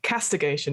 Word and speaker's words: castigation: Castigation.